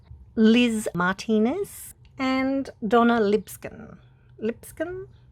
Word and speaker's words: Lipscomb: Lipscomb, I think that's how you say it, L-I-P-S-C-O-M-B.